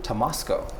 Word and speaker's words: Tomasko: And then we have Tomasko.